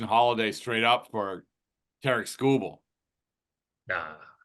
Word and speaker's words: Skubal: do just Jackson holiday straight up for Terk scoble nah it's not enough so I don't think